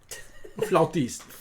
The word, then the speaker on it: flautist: Both is correct. Oh, okay, great. Oh, for real? Yeah. Huh. Depends on where you are.